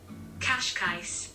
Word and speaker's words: Cascais: hold on let me let me google cash guys cash i was butchering that we're here and we're